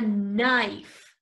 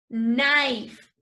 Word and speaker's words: knife: The next one is a knife. Knife. Yo sé que aquí tiene una K y que suena muy raro, pero esta K no se pronuncia.